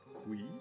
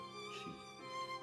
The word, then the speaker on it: Qi: And Qi is pronounced as Qi. It's not Qi, but Qi, which means breath, air,